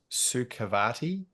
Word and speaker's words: Sukhavati: Speaking of your wellness journey, I'll try and pronounce it correctly. It's Sukhavati.